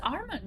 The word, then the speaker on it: Armand: My name is Armand, so people can't spell it who are English, so I always make jokes and said it's spelled arm and leg, but without the leg.